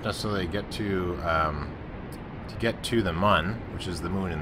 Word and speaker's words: Mun: I pronounce it Mun. Is that not how people pronounce it? It's a moon, but its name is Mun, I think is kind of how it works.